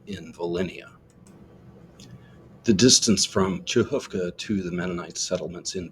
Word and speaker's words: Przechówko: much sense it's pronounced chovka the RZ gets an gives an S sound the CH gives a KH sound from the back of the throat the o w with